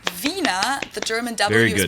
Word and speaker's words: Wiener: used instead of penis in German we say Vina the German dou is pronounced like an English V and it usually